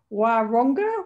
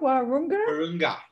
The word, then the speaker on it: Wahroonga: This is from, now I never checked how to pronounce this, Wahroonga. Wahroonga, Sydney.